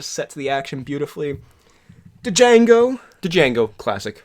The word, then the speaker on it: Django: Django. Django, classic. The D is silent.